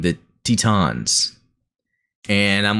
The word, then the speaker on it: Titans: Racing pointed out was, it's actually how it's pronounced in Zeta. Now, not the English, but the Japanese, they are saying Tee-tahns. And I get it's just really the Japanese phonetic pronunciation of things. But, really, I think for English speakers, Titans makes sense.